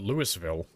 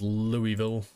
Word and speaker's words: Louisville: it properly see I used to call it Lewisville that's that's how I thought it was pronounced apparently it's pronounced Louisville fair enough I am too European for that